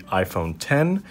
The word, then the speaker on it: iPhone X: I'm here with the iPhone 10 it's the 10th edition iPhone it's pronounced it's written out X but you're saying it 10 I might be a